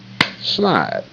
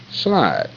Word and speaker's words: slide: Okay, in the word slide, there are two vowels, but one is silent, so you only got one vowel that's active. So you got one syllable, and that's clap your hand, you go slide, slide.